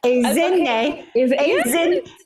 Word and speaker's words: Ezinne: Ezinne. Ezinne. Yes, I think you doubt yourself sometimes, and I think you actually have it. Okay, I know I have it, and it's Ezinne, and